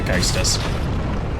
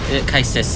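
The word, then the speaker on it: Caestus: then immediately gotten bodied because we're using the Kaistus. To be fair, yeah, Kaistus is your punchy.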